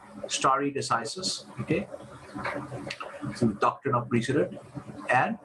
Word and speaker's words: stare decisis: story decisis is important this is pronounced as story decisis okay doctrine of precedent